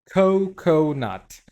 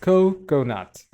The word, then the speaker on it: coconut: And then we have coconut. So this co goes a little bit more emphasized. Coconut.